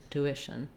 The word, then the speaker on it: tuition: my voice on shun tuition tuition so you can really think about that being short and that middle syllable being long then when it comes